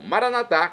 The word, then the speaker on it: maranatá: E agora eu clamo maranatá, como dizemos nós católicos, ou maranata, como dizem nossos irmãos separados das comunidades evangélicas. Não importa a pronúncia, o significado é o mesmo.